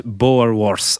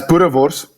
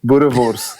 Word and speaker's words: Boerewors: I've totally butchered the pronunciation of that, I'd say. Range of sausage. Unlucky. Where can that be found? Yeah, go on, correct me. That's Boerewors. Just have to be aggressive. Boerewors. There we go.